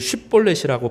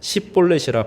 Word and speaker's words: 쉽볼렛: 그에게 이르기를 쉽볼렛이라고 발음하라 하여 에브라임 사람이 그렇게 바로 말하지 못하고 십볼렛이라 발음하면 길르앗 사람이 곧 그를 잡아서 요단강 나루턱에서 죽였더라.